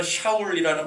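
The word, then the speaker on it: שאול: 히브리어로 작은 자가 아니라 이 히브리어로는 샤울이라는 발음에 더 가까운데, 이 샤울이라는 그 뜻이 구하다, 요청하다라는 뜻을 가지고 있습니다.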